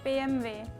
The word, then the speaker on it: BMW: Korea we say PMW in Switzerland we say BMV in Spain we say b w so gorgeous